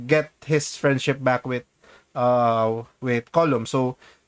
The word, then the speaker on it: Colm: And then was the other guy Gleason's character Colum, which is spelled Um, Colm.